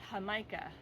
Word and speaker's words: jamaica: Caribbean where they speak Spanish this is called hamikah for your greenos out there that's spelled Jamaica but it's pronounced H now you